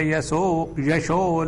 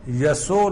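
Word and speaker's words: यशो: Krishna continues, Tasmat tvamuttishta yasho labhasva. Jitva shatrun bhungshva rajyam samruddham. Mayaivaite nihata purvameva. Nimitta matram bhava savyasachin. Tasmat tvamuttishta yaso labhasva. That yaso, sha is pronounced as sa by Gujaratis.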